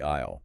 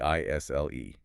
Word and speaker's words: aisle: And speaking of the aisle, that's Mhm. Aisle. Right, silent S. Important pronunciation note there.